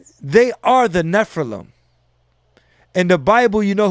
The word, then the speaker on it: Nephilim: The original Sumerian are the they call them the how do you say, the Nephilim, right? Nephilim, yeah.